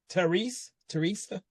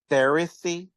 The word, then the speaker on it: Teresa: So, yes, second story, which is Millicent and Teresa. That's how you pronounce it. I was so lost at first. I'm very bad with names, So when I saw that, I thought it was Theresy.